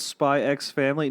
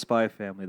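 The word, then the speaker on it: Spy × Family: cool look they're like the x is silent I'm like it's right there though I know but then then they're like is it called spy X family no it's just spy family that sounds better yeah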